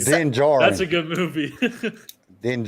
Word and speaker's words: Din Djarin: So first of all, Chris called Kyle out for saying, or Kyle, as Django would say, the D is silent. It's just Din Djarin.